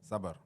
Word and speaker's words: sabr: Sabr, you know? Sabr. Is it sabr? Sabr.